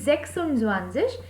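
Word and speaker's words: sechsundzwanzig: can be written together that is why s spelling of 7 is written completely which is zeben then added und and then zwanzis so 26 will be sexual swanseas and 27 will be zebenem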